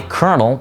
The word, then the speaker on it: colonel: The reason why kernel, C-O-L-O-N-E-L, is pronounced like that is because it derives from a French word where that R sound in the middle was actually spelled with an R.